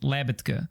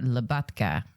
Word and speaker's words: Labatka: I would call it Labatka. Yeah, right. My name. That's how I introduce myself.